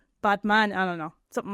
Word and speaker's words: Batman: So, it's actually pronounced botman. Botman. Like botman. Like he's a man with a robot. Man. So like a as in father, father.